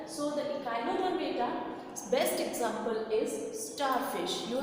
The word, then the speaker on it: Echinodermata: The pronunciation is Echinodermata.